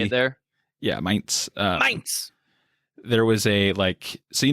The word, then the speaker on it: Mainz: Yeah, Mainz.